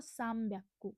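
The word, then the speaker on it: 三百: साम व्याकु ठीक है साम्याकु यहां पर मा बोलेंगे लिखेंगे ना ही साम व्याकु ठीक है बी के पहले वाला ना साउंड जो है वो मा प्रोनाउंस किया जाता है। यह मैंने आपको बताया था।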